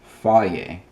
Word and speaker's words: Fage: How do you think that's pronounced? That's right, Fage.